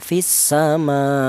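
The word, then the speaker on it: في السماء: Naber itu artinya ada penekanan suara sedikit lebih tinggi ya. Naber itu jadi cara bacanya itu ditekan ya fisama.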